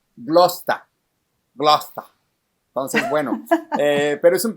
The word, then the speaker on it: Gloucester: Y dice, no, Gloucester no, Gloucester. Entonces, luego me enteré que era lo mismo, y así lo pronuncian. Se comen un chorro de palabras y le pronuncian Gloucester.